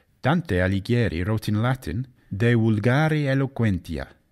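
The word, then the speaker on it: De vulgari eloquentia: alighieri wrote in latin de ulgari eloquentia or as he might have pronounced it de vulgari eloquencia in which he discussed using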